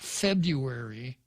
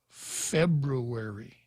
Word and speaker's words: February: There are 2 R's in February. It's not February, it's February.